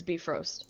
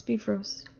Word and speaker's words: Bifrost: But that was a Karker video where she said it's Bifrost. So you're saying that Marvel lied Yeah. to us? What? Yeah, That's correct. I knew it. It's not acceptable as a. it's Bifrost.